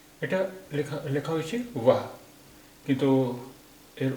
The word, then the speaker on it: वह: वो आ रही है এটা লেখা লেখা হয়েছে वाह কিন্তু এর উচ্চারণ হবে वो आ रही है।